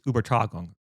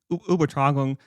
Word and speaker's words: Übertragung: this, and forgive me for my terrible German pronunciation, but it's Übertragung. God, my German only is getting worse. I guess I'll read it, but yeah, so it's Übertragung.